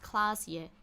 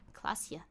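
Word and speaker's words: Klaasje: Klasje is pronounced Klasje. Klasje.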